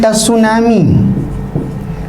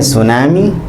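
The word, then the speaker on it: tsunami: लिखते हैं टसुनामी, पढ़ते हैं सुनामी।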